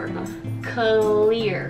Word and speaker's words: clear: クリア。